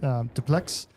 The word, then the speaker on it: Dupleix: My best interpretation of how to pronounce it is just Dupleix. And just almost like saying duplex, but with less of a do and more of a duh sound.